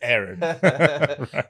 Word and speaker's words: Aaron: also mr aaron and he pronounces my name the same way that most people should pronounce it which is the correct way which is aaron it's funny because mine